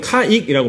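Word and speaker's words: caique: 잊어먹는 나이라서 그런데 이제 저는 카익이라고 발음합니다 여러분 말씀드렸지 카익이라고 하는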